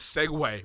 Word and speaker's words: segue: the show right yeah and the word is segway but it's spelt s-e-g-u-e i was still trying to figure